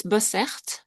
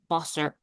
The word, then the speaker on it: Bosse: Yeah, it's it's a funny name to pronounce in English. It's actually it's Bosse Bosse. Bosse. But everyone says it Bosse all wrong.